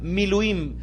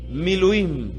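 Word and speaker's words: מילואים: de que el detato quinto tipo de corbán miluim podrían pronunciarlo conmigo mi luing que es un corbán de consagración que es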